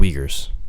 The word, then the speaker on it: Uyghurs: he's like clip it yeah search it up pronounce it completely wrong it's not it's called the uyghurs Jesus and apparently so they're like natives in